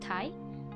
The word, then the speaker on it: 大: convention as a review the first kanji is pronounced tie and the second kind the first kanji means